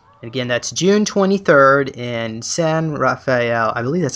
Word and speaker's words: San Rafael: Again, that's June 23rd in San Rafael. I believe that's how you say it. Right north of San Francisco there. San Rafael.